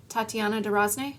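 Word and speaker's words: Tatiana de Rosnay: Uh, Tat Tatiana D. Rozn.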